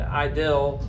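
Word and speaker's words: idyll: I D L II although it's pronounced like that but idle or idle is something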